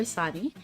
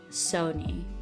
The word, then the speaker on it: Soni: Please call me Soni. I do prefer Soni. You pronounce Soni like S-A-W-N-I-I or K-N-E-E, whichever one you prefer. So it's not Sony like the brand, the video game brand. And it's not Sani like a popular nickname some of you guys might have heard.